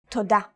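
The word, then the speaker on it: תודה: Toda.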